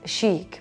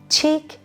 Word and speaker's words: chic: the first one is Sheik Sheik means cleverly stylish fashionable all right and don't mispronounce it by like cheek chick no this is CH and chick we say